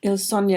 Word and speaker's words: Il Sogno: How do you pronounce that? Il Sogno? Il Sogno, it means the dream.